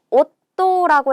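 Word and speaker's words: 夫: 만약에 여기에다가 여동생을 나타내는 이 한자를 써서 요게 한꺼번에가 되면 자매라고 해서 시마이라고 읽어주시면 됩니다. 시마이는 자매, 음독으로 읽은 거죠. 자, 오또라고 했어요.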